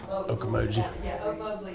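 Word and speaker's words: Ocmulgee: If they drop that bill in 2025 and put that national park, is it Oak Mowgli? I'm saying it wrong. Okomoji.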